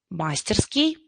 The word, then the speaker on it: мастерски: мастерский изготовить мастерски вот обратите внимание до мастерски ударение падает до нельзя мастерски я специально поставила ударение на слайд для того чтобы вы увидели как она ставится правильно возможно вы уже знаете в какой там ударение правильно но в этих словах очень часто делают ошибки до говорят да нельзя или да да нельзя или мастерски а это является ошибочным ударением все-таки правильно да нельзя